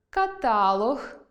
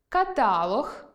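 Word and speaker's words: каталог: ; ; ; ; .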